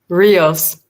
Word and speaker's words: Rios: His name is Isaac Rios. I hope I pronounced that right. Rios. Rios, thank you.